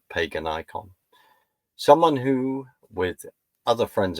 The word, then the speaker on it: Paganicon: recent research trip to I'm going to pronounce it as pagan icon.